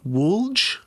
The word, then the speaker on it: Whulj: I'm going to try to pronounce it as best as I can in English. It's like Wulj.